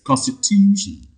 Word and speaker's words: constitution: primary stress okay again if a word ends with ic you also count two syllables from the right so the second syllable takes the primary stress so let's apply that